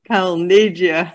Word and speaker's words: Calneggia: world, from Australia, Calneggia. I know, it's a weird name, but never mind. It's my Italian. So that's an Italian pronunciation? It certainly is, yes.